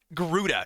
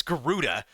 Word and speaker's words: Garuda: Uh Gdora uh is No, it's not Garuda. It's Garuda is uh that Oh god, the UI setup.